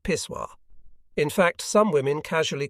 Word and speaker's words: pissoir: Most of the women seemed to pay no attention to the open-air contrivances, which bore the none-too-elegant name of pissoir, pronounced pissoir.